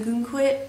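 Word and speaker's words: Ogunquit: quit or Aon quit I know some people from Maine and New England I think pronounce it a git or maybe just down here they pronounce it that way but I call it a gun quit um but anyways and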